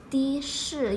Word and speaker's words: 的士: The is also a polyphone when it comes to 的士. You have to change the pronunciation 的 into 的.